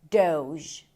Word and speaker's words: Doge: And the way you pronounce it is doge. Doge. It's a D sound. O as in go. And then the sound as in vision.